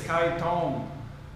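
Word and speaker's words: ไข่ต้ม: again k k yeah egg hardboiled egg is Kai Tom uh Kai is egg Tom Tom is boiled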